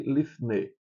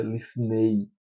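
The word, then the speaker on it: לפני: Então essas três são etsel, neged, neged e lifne. Lifne. Essa aqui é uma matlexiones. A gente não pronuncia lifnei, masne é só para dizer que aqui é o som do e.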